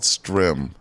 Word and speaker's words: Strimm: So it's called Strim. Strim? Yeah. How you spell it?